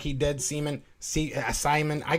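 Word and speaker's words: Siemian: seaman see uh simon i don't know how to say his name trevor simeon they gotta we have to write his name different because i i read things phonetically anyways his name is trevor simeon yes i think they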